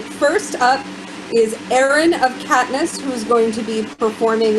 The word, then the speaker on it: Caithness: All right, Erin of Caithness, you are up. It's actually Caithness, but that's okay. You're not the first one to mispronounce that.